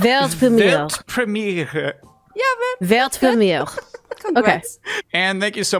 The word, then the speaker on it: Weltpremiere: It's actually Weltpremiere. Weltpremiere. Pretty similar, right? Okay, so with the accent. Okay, Yeah, do so it. with the accent, Weltpremiere. Weltpremiere. Yeah, man. Weltpremiere.